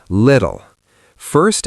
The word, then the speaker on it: little: Little. First L is light. Second L is dark.